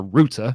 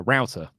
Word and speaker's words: router: anymore it's not a it's not a router it's a router oh my gosh wait you say Rooter no no no um